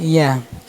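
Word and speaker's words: ياء: হরফ উচ্চারণ স্থান ইয়া, হরফ উচ্চারণ স্থান জিহ্বার মাঝখান ও সেবার উপরে তালুর সাথে লাগবে, মানে জিহ্বার মধ্যখান, এই দেখেন জিহ্বার মধ্যখান উপরে তালুর সাথে লাগছে, এই দেখেন জিহ্বার মধ্যখান উপরে তালুর সাথে লাগিয়ে উচ্চারণ হয়েছে।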